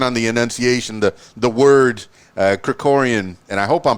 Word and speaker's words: Krikorian: Krikorian, and I'm glad that you pronounced it because I was working on the enunciation, the word Krikorian, and I hope I'm pronouncing it properly now.